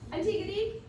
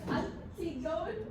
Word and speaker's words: Antigone: Antigone? So it's not pronounced Antigone, it's pronounced Antigone.